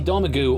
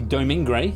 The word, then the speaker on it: Domergue: I would have accepted Daisy, but yes, Daisy Domergue or Daisy Domingre, depending on which version you like to believe in.